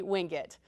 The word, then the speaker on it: Wingate: little uh humor here is it winget or wingate well to the locals it would be winged um and some of